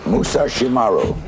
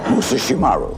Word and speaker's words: Musashimaru: name right all right musashimaru musashimaru mus the r is hard okay you what made